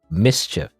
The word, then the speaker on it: MSCHF: Apparently, well, it says here on the Wikipedia it's pronounced mischief.